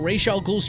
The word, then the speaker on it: Ra's al Ghul: And now we're gonna check out Ra's al Ghul's trials.